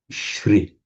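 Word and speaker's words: श्रि: By the way, not the same as Shri. Shri with a long E is glory, light and glory. It's the same as in Sri Lanka. It's that, the long E.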